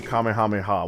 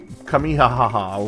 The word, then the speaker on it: Kamehameha: 10 in their 20s mispronouncing the Kamehameha wave not even saying Kamehameha just kamihaha wherever or Kami hamihi or what what kamehame I'm like what the are you saying bro yeah young white